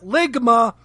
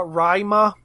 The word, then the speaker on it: Rhyma: the lightning rod beast Ligma. Well, not really. It's spelled out in the subtitles. But it's actually uh Rhyma. It sounds like what they're saying.